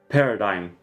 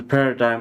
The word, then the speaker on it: paradigm: Translate Google Translates Paradigm ah so the g is silent yeah Paradigm all right so the g is silent there on the on the other hand C++ for is a paradigm of both procedural and